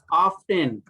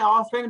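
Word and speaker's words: often: ऑफ्टेन, इसको ऑफ्टेन भी पढ़ सकते हैं, ऑफेन भी पढ़ सकते हैं, दोनों पढ़ सकते हैं, ऑफ्टेन भी ऑफेन भी, दोनों चलता है, ठीक हो गया।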